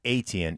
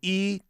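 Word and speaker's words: Etienne: I have done so many Jacksonville games and it's not ATN, it's eN. and the uh phonetic pronunciation that the Jacksonville Jaguars give us as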